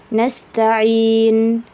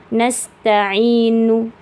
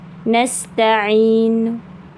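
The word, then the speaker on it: نستعين: Jadi jangan baca nasta'inu. Kalau kita niatnya raum, berarti bacalah dengan harokat yang lemah. Nasta'in, nasta'in. Kalau raum mesti 2 harokat saja panjangnya. Nasta'in.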